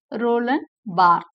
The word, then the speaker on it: Roland Barthes: kind requests thank you spelling but it is pronounced as Roland Barth Rollin Bart of the pronouncement he was born on 12th